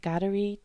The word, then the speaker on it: Kateri: So for English speakers, the important thing to remember is that the letter K gets a G sound.